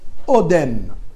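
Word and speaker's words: אֹדֶם: En hébreu, le rubis s'appelle Odem, c'est-à-dire ça s'écrit dans la Torah, Aleph, Dalet, Mem, comme Adam.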